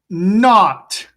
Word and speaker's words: knot: Not. Not. I tie a knot in my shoe. Not. So remember, all the words are KN spelling, right?